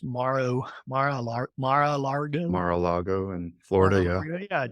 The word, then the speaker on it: Mar-a-Lago: We used to fly into Mar-a-Lago, and I think that's how it's pronounced, Mar-a-Lago.